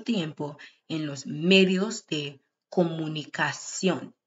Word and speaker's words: comunicación: Alguna gente pasa mucho tiempo en los medios de comunicación. C-I-O with the accent N. Cion, comunicación.